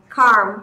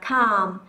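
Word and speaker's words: calm: sẽ phải đọc là Cm carm nhưng không từ này sẽ đọc là C âm L trong trường hợp này là âm cầm thế nên chúng ta không đọc âm chúng ta sẽ chỉ đơn giản đọc là cal cal được không nào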